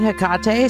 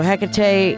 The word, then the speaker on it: Hecate: Also, I found interesting that she said her name is Hakate cuz I always kind of struggle with which pronunciation I'm going to go and she said Hkate, so I'm going to go with that.